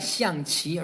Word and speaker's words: 象棋: XiangQi, right? If you want to pronounce it the proper Chinese way, right?